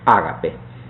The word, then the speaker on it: ágape: El tercer tipo de amor es lo que el griego llama ágape, pronunciándolo de manera castellanizada.